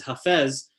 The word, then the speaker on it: Hafez: of pushing the boundaries is hafez or hafez depending on how you pronounce it um and even